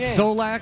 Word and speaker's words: Zolak: And you can't pronounce Zolak? What do I think? Like Zolak. It's 2 syllables.